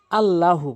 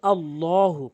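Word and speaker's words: الله: একটি হচ্ছে আল্লাহু বলে। এখানে বলতে হবে আল্লাহু পুর করে আল্লাহু আল্লাহু এভাবে বলবেন আল্লাহ শব্দের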